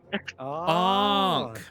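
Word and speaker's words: ankh: This is a Ank. Did I say it right yet? Onk. Onk. Is that how you say it, Billy? Yeah, like a ong. Onk.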